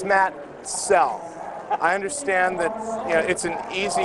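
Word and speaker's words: Soell: soul s-o-l-e well makoto it's spelled s-o-e-l-l and it's pronounced cell i'd like to get that out of the way for all you folks who constantly mispronounce it it's matt cell i understand that you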